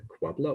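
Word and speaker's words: quabla: This is sometimes pronounced the Quabbler operator, which is simply a wordplay on the nabla operator di, the Laplacian that we have in usual sort of three-dimensional spaces.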